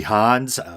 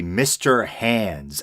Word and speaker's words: Mr. Hands: people mention it and I thought they were saying mr. hands as in the German guy's name and I thought the more proper pronunciation might be Hans you know who me and uh pronunciations and I didn't realize until I was searching for a poster art image for the YouTube version of the episode that it's actually mr. hands as in the extremities at the end of